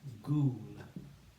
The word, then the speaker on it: ghoul: This is the word ghoul. Ghoul. One syllable. And we say g, oo, oo. G, oo, oo. Ghoul.